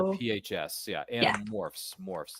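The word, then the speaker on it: Animorphs: Might be Paramount Plus, or maybe is it HBO Max, one or the other, you can stream Anamorphs and I would encourage you to check it out if you're into that sort of, you know, sci-fi mystery kind of stuff.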